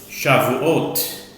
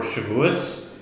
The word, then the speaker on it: Shevuos: 404 is the time that we start the new tractate, the tractate of Shavuot or Shevuos, depending on your pronunciation.